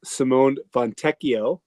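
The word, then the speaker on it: Simone Fontecchio: Uh they added DaVon Mitchell, Simone Vonteio.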